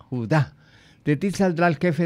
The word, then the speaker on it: Judá: Judá, este sí tiene acento en la Judá.